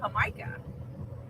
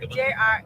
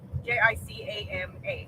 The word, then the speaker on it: jicama: Dorian says it's really good on Jamaica. I think that's how you say it. Jicama. Jicama. There you go. Jicama.